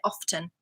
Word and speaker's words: often: but I pronounce it often what do you do often you do it some people say often off they up and they drop the T absolutely both are absolutely fine I don't know why